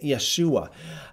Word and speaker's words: Yeshua: going to say da I'm not going to say Jesus I'm going to say Yeshua I'm not going to